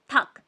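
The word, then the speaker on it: 닭: लियल यहां पे साइलेंट है। तो सिर्फ कॉयोक को प्रोनाउंस करेंगे और बोलेंगे थक।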